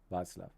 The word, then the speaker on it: Václav: Hey, Václav. That's how you pronounce his name, Václav.